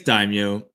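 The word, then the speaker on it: daimyo: How do you guys pronounce I have always said do is it is that not how the English says it? It's daimo.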